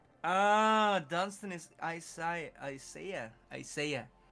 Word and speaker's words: Isaiah: Isaiah. That's how you say it in English.